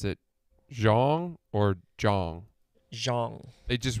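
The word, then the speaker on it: Xiong: guy though explain this it's x-i-o-n-g but you pronounce it Zhang or Zhang Zhang they just wrote pronounced j-o-n-g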